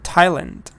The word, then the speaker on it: Thailand: have the test sound sometimes th is not a fe it's a te for example Thomas or or Thailand yeah it's a th but it's a te Thailand Thailand um for D also